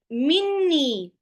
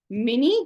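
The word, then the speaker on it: مني: Min has only one noon, and ya is not, min and ya should be mini, something like that, but it is read as minni, right?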